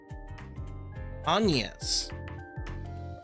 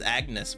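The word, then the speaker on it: Agnès: name is onas clell onas that's how to pronounce her name it's kind of like saying onions but say onions I thought it was going to be pronounced as Agnes but on attend a school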